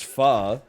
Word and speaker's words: pho: you say Pho and then they go what's far you go oh it's like a Vietnamese noodle